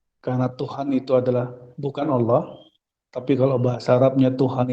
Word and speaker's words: Allah: Allah itu adalah ilah ditambahi alif lam jadi bacanya tafkhim Allah depannya dikasih alif lam